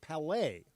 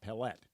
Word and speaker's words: Palet: And Dave Palet in about an hour. 15 minutes into this show, I'm already in corrections and retractions. Dave Palet, not Palet.